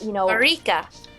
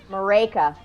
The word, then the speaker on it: Maryke: So the middle, it's like it's a like maraca, but it's a Maryke. it's like rake the leaves. Maryke. Okay. Rake the leaves. Anyway, that's one way to do it, and the other way is it rhymes with Jamaica.